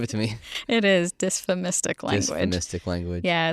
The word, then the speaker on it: dysphemistic: That's a tough one to pronounce. Give it to me. It is dysphemistic language.